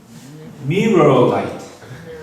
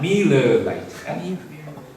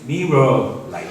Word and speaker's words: Mirror Light: our next new product, which is Mirror Light, not Miller Light. People from Japan have difficulty pronouncing R and L sounds, but our new product is Mirror Light.